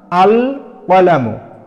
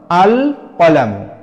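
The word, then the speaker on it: القلم: আল তাহলে সমান সমান আল কলামু এই যে এখানে লাম হরফটির উপরে সাকিন দিয়ে লাম হরফটিকে স্পষ্টভাবে আমরা উচ্চারণ করছি যেমন আল কলামু আল কলামু ঠিক এমনিভাবে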